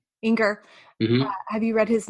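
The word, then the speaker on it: Enger: Inger.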